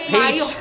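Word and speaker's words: Pécs: It's page, bukan pektoralis mayor.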